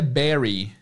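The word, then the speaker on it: bury: A escrita é B U R Y R Y, mas a pronúncia é berry.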